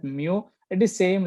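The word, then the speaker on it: μ: It is pronounced at mu.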